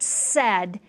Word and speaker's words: said: The next sound in the word said is eh, and this is an old part of the word. Normally eh is spelled with E, but in the word said, because it's old, it is A-I, and this is the heart part of the word, okay?